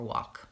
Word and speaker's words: walk: in words talk and walk we don't say the L sound even talking walking that's right the L is silent it's it affects how